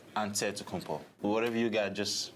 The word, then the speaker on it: Antetokounmpo: the spelling of Giannis Antetokounmpo's last name. He helped set the record straight of how you pronounce it. The Nigerian way, you gotta say it with a D, so it's Antetokounmpo.